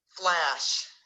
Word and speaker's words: Flash: Flash. O A tem um som totalmente diferente, né? A gente fala flash, Ash. né? Que muda completamente o som.